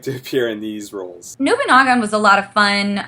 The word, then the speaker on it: Nobunagun: I pronounced it wrong too, and the director had to correct me incessantly. Apparently, it's Nobunaga, and you did say 6 right.